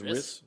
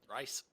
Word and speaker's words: Rhys: R-H-Y-S. Is Riss? Riss? I don't know how you pronounce that. Rice. I think it's Rice, but I mean that's what Zevon.